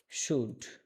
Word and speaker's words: should: উচ্চারণটা বুঝতে পারছি, কিন্তু এখানে যেভাবে লেখা আছে SHOULD, শুট, এখানে এল এর উচ্চারণ নাই।